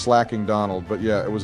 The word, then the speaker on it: Slaking: his slaking destroyed me. I still have PTSD from that slaking. It's pronounced slacking Donald, but yeah, it was a difficult battle.